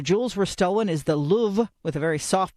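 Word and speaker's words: Louvre: The Paris Palace turn museum where the jewels were stolen is the Louv with a very soft pronunciation on the weight loss drug is called Mjaro, which a lot of people can't seem to get right.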